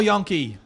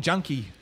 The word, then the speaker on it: Yonke: Kyle Yonke. Another top better indeed. I had to ring up the coach to ask how to pronounce the name because it's spelt, I would have been saying junkie.